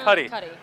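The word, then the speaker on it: Cudi: how you say it I always mess it up I always want to call him cutie it's not kid cutie it's kid Cy so okay so just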